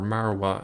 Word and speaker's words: Moriah: but over here is Mount Moriah or marawa as it's pronounced in Arabic over here we see